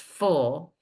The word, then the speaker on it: ful: Suffix FUL is pronounced full, and it begins with a consonant, so it's a consonant suffix.